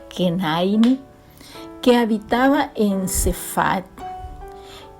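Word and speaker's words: כנעני: El cananeo en hebreo se pronuncia Kenaini, que habitaba en Sefat,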